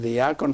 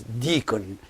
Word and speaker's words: deacon: In English, when they borrowed this word, the word diakon from Greek, they did not keep saying it diakon, but they applied the English pronunciation and they pronounce it as deacon.